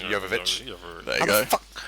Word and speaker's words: Jovovich: He is married to Mila Jokovic. Jovovich. There you go. How the Maybe fuck do you he's pronounce just her name?